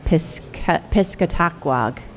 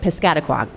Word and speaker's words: Piscataqua: trouble pronouncing this room initially I wanted to pronounce it as piskatakwag and I was corrected piscataquan welcome to the current